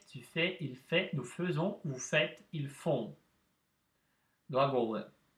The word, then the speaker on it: faisons: Вместо обычного буквосочетания АИ, которое произносится как Э, у нас стоит буквосочетание АИ, произносится так же. Обратите внимание, это исключение в этом глаголе. Ну, faisons, мы не говорим faisons.